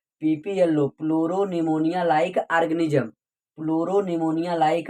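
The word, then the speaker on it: pneumonia: PPLO pleuro निमोनिया like organism, फ्लोरो निमोनिया like organism. यहाँ पे निमोनिया में पी साइलेंट है, इसीलिए भैया यह निकल रहा है।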